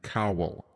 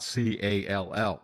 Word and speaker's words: Cowell: And he said, "I was at Cowell College of UC Santa Cruz, Cowell." And he said, "Say it." I said, "I'm from Cal College." He said, "It's not Call."